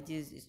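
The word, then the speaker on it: chew: अच्छा, पहली चीज़ जो इसमें है वो सी एच ई डब्ल्यू को हम नॉर्मली च्यू प्रोनाउंस करते हैं, ठीक है, नॉर्मली हम च्यू ही प्रोनाउंस करते आ रहे हैं अब तक, लेकिन इस वर्ड की जो सही तलफ़ुज़ है इस वर्ड का वो है चू, सी एच डबल ओ चू, ठीक है, सी एच डबल ओ चू, इसको चू प्रोनाउंस करना है, च्यू प्रोनाउंस नहीं करना, ठीक है, चू चूइंग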